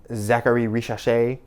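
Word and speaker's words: Zaccharie Risacher: We talked briefly, Zachary Richachet.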